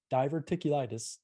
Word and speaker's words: diverticulitis: last two or three years so the diver diverticulitis is that pronounced correctly yep what can you just unpack